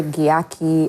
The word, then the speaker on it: Gyakie: And I kind of understand them because I spelled it that way because of how we we pronounce J in ch. No. You know that's like jee, you know, like the gy.